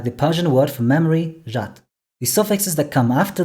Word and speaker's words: жад: Sometimes the consonant at the end is devoiced, but it's not reflected in the orthography, like the Persian word for memory, jat.